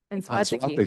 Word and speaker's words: Anzuategui: Anzuategui. Anzuategui.